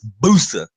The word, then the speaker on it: Busa: It's Busa. You got to have that emphasis. You got to have the emphasis.